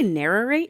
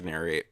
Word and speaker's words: narrate: word again narrate narrate did you say narrow rate yeah that's narrate is that how it's spelled is that how it's said no I'm pretty sure it's narrate but I was like